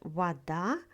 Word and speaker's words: вода: In the word вода, stress falls on the second syllable.